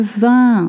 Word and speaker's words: vin: Le vin, okay, we don't say le vin ou le dvin. Le vin, when you see I-N, you pronounce un.